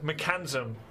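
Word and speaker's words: Mekansm: It is spelled in the game Mechanism. Like Mackenzie, the American girl name. So I am going to say Mechanism.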